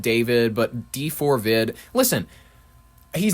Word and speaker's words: D4VD: I know you're supposed to pronounce it David, but D4VD, listen, he's not talented enough where I go, R.